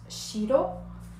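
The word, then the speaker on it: しろ: des couleurs nous avons le blanc qui je vous rappelle se prononce chiro et le noir culo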